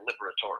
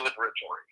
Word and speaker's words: Liberatore: But since then, I've always pronounced all the letters as most of the Italian words are, the Liberatore. So I say Liberatore.